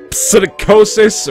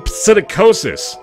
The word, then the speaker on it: psittacosis: Everybody knows that even just talking to him can bring you down with aspergillus, psittacosis, or even worse things. Worse than psittacosis. The P is silent, but only after you're dead.